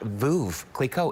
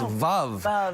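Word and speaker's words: Veuve Clicquot: pinky down and thirdly it's not voov clico it's love rhymes with love so if you're that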